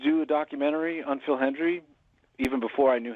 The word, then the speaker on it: Hendrie: Hendrie. For years, I called him Phil Henry. I mispronounced.